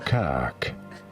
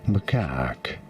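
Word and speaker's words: macaque: Macak. You do want to stress on the second syllable. On the car syllable. On the what syllable? Macak.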